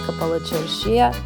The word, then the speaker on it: Kapalı Çarşı: Welcome to Bulgaria's Kapalı Çarşıya. I know it's pronounced Kapalı Çarşı, but I like to say Kapalı Çarşıya.